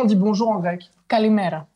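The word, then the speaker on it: Καλημέρα: Kalimera. Kalimera, voilà. Je l'ai prononcé correctement.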